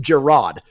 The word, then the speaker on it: Jerod: But, yeah, like Jerod is like such a weird spelling, and it's supposed to be pronounced Gerard, but it's too fancy for me.